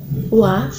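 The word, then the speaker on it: は: Wa, bacanya wa, tapi tulisannya adalah ha.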